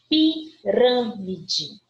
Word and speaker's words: pirâmide: Pirâmide. Já estou vendo o acento. Se eu estou vendo o acento, eu já sei que ali é a minha sílaba tônica. E ela é uma palavra proparoxítona.